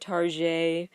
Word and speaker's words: Target: it's part of the people jokingly will call it tar the French pronunciation because people don't feel